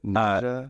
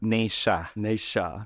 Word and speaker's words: Naysha: So it's Naysha. Naysha. There you go. Like Okay. Sasha. Sorry.